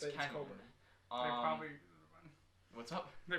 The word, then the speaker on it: Cockburn: I mean, I don't know how you get Coburn out of that pronunciation, to be perfectly honest, but the 3 announcers I think it's Coburn.